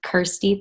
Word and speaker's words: Kirstie: just naturally happened um my name rhymes with thirsty so that's how kirsty thirsty and then i